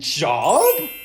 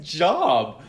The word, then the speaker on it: Job: No. His name is Job. But you're right, it is spelt like Job.